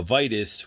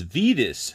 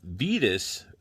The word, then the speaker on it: Vitus: to read it now vitus which the name i too recall now that i'm saying it wrong is vedas so vidis according to four horsemen uh he does come